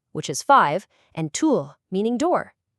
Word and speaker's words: Tür: Just say E, freeze your tongue completely in place, and round your lips. That's it. It lets you perfectly pronounce words like "fünf", which is five, and "Tür", meaning door.